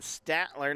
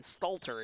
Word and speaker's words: Stalter: told the kids right Gavin stat ler number 14 has checked into the game here eurek going into their bench or Gavin Stalter excuse me I said his name wrong there number 14 there's